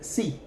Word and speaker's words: sí: There's also a stress, an accent on the letter I in the word sí. That is answering yes.